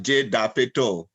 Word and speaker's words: Jay Dapeto: Next, we'll hear from, and I hope I get the name right, Jay Diapod. Thank you. You pronounce it right, Jay Dapeto.